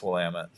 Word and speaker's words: Willamette: how do you guys not know that it's Willamette anyways um Bruce let's see here what available